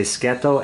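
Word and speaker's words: σκέτο: coffee plain without sugar so we say sketo s-k-e-t-o will kind of be the way you pronounce it plain coffee schedule if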